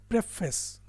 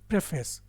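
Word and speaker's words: preface: Is called प्रेफेस, right, प्रेफेस। यहाँ पे भी ध्यान दें, इसको लोग प्रीफेस बोलते हैं क्योंकि प्री और फेस को मिला के प्रीफेस बना दिया। इसका सही प्रोनाउंसिएशन होता है प्रेफेस, प्रेफेस, प्रेफेस।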